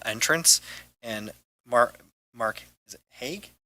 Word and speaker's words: Haig: Lori Moller for City Hall entrance, and Mark, is it Haig? Haig, Okay. yes. Okay, I just want to make sure I pronounce it correctly.